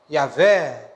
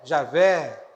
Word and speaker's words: Yahweh: Lembrando que a pronúncia ninguém sabe ao certo, né? Yahweh, se fala Yahvé, Javé, outros até Jeová.